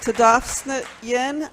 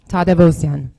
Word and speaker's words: Tadavosian: Tadavstian, followed by Patty Kabbalah, followed by Philip Costas. Butchered my name. Sorry. It's okay. Tadavosian.